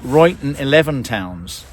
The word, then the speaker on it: Ruyton XI Towns: So in fact, we just asked a local. It's pronounced, or they say it, Ruyton XI Towns.